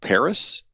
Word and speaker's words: PVRIS: but I'll go with a band called Paris and it's spelled P V instead of an a it's pvris and they had a few